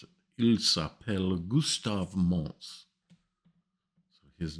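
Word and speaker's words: Gustave Monce: Project, and I'm going to say his name properly because I hear so many people mispronounce it. Il s'appelle Gustave Mons.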